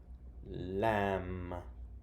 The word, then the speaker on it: lamb: let me and then we have silent B lamb comb climb he climbs